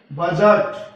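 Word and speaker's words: budget: बी यू डी जी ई टी, इसमें D silent रहेगा क्योंकि जी से पहले आया है। बजट।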